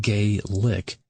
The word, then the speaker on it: Gaelic: Pronounced gay lick.